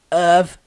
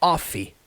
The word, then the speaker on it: of: Não é off, tá? Não é off, é of. Somzinho do V.